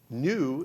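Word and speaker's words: gnu: you know for 15 new new is right the g is silent there for G and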